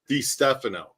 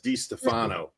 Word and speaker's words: DeStefano: I've talked to one of Sam's relatives and they said that it was Dphano. So, but everybody says Dfano. Anyway, it's spelled with an F, not a PH.